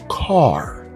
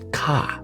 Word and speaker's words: car: Car, car, car, not ka. Remember, I've taught you this several times. You don't say ka, you say car.